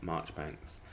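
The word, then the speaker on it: Marjoribanks: poopies really expect people to uh pronounce uh marjorie banks as march banks but i do expect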